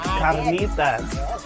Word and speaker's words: carnitas: And Marianne, you gotta roll your R. It's carnitas.